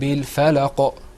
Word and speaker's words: الفلق: First of all, if you noticed when I was reading, I said, قُلْ أَعُوذُ بِرَبِّ الْفَلَقِ. Did you hear that sound at the end?